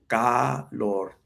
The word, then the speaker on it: calor: Yeah, the Spanish word of the day is calor. Calor. Two syllables.